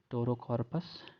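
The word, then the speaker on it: Pterocarpus: तो टेराकॉर्पस को भी कभी ये पेट्रोरा कॉर्पस भी पढ़ते हैं क्योंकि आगे पी है, उसे साइलेंट भी पढ़ लेते हैं।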